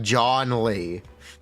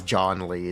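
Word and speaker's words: Zhongli: If you never know how to pronounce uh the leeway geo man's name, it is like John Lee.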